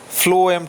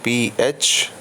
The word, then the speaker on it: phloem: Xylem, this tissue is pronounced as xylem tissue, and the pronunciation of this second tissue is the phloem tissue, phloem, phloem tissue.